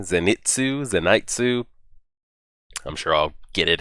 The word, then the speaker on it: Zenitsu: guys told me that we do pronounce the I in his name, Zenitsu.